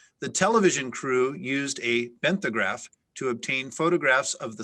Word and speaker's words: benthograph: at great depths the television crew used a benthograph to obtain photographs of the sunken ship and the surrounding debris field there are no alternate pronunciations could you say it again benthograph benthograph benthograph and you said there's no pronunciations